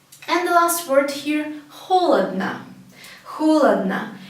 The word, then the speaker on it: холодно: Again, we see 3 O's, but the first one, the only one is stressed, is the first one. And the other 2 are not stressed, so we pronounce it as холодно. Only the first one is pronounced as O.